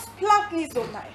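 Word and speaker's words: splanchnizomai: Pour ceux qui prennent des notes, je répète, S-P-L-A-N-C-H-N-I-Z-O-M-A-I, qui se prononce splanknizomai.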